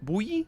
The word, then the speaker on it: buoy: Buoy? Buoy is the correct way of pronouncing that, which is weird.